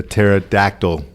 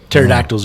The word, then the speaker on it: pterodactyl: Because the P is silent in pterodactyl.